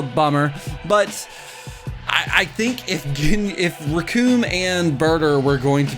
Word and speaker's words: Recoome: I gotta know, what are you thinking about Recoome Boom? Rhymes with Doom.